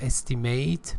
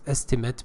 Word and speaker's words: estimate: from hitting each other in my estimate not estimate but estimate because it's a noun the two bicycles collided